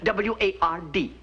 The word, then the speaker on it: Ward: you were talking to me you see i pronounced my name w-a-r-d w-a-r-d ward yes i am a diction teacher